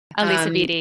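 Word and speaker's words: Alisa Vitti: I loved Woman Code by Alicia Vitti. I think I'm pronouncing her name correctly. Elisa Vitti, yeah.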